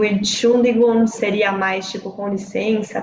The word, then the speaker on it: Entschuldigung: Lembrando que no dia a dia eles vão falar mais assim, ó, vão eliminar esse comecinho, o ENT fica fora e fala só Entschuldigung.